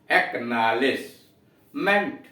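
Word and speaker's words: acknowledgement: अब आइए एक नॉलेज, के साइलेंट है नॉलेज में, लेकिन जब AC पूर्ववर्ती शब्द जुड़ा हुआ है, प्रीफिक्स जुड़ा है AC, तो के मिल के क बना दे रहा है, एक्नॉलेजमेंट।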